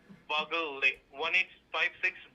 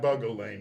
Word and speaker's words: Bugle Lane: 33764 is that right no it's not bugle Lane it's bugle lane5 bugle Lane clear waterer Florida 33764 not bule Lane no so b u g l e how do you pronounce